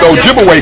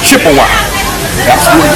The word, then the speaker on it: Ojibwe: spot and of course they corrupted the pronunciation of Ojibwe people to Chippewa so Chippewa and Ojibwe that's the same people was the European Corruption of their real name Ojibwe okay so they begin